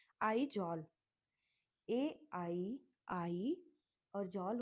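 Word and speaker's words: Aizawl: अब आगे है Mizoram, MIZORAM, meso, Mizoram, two parts में, मिजो और रम के स्पेलिंग याद करके कर सकते हो। मिजोरम का होता है आइजॉल, AII, और जॉल हो जाएगा ZAWL, ठीक है।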